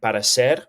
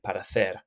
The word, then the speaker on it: parecer: If you're in Latin America, that you will say this like parecer with the s pronunciation for the letter C. But in Spain, in most parts of Spain anyway, you would say parecer.